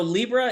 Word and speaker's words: LLIBRA: cover today uh so Libra it's spelled a little bit odd it's l l IB r a.